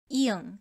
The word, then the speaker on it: 이응: 이응 is silent as the initial consonant, but still must be written. And as the final consonant, it is pronounced as 응, like in song.